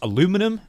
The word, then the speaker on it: aluminium: were made out of you would pronounce aluminum. I would pronounce aluminium.